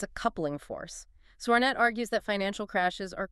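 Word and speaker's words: Sornette: Sornet, that's pronounced Sornet, is a physicist at ETH Zurich.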